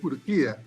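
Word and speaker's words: Urquía: Es Urquia. Urquia. El de la I.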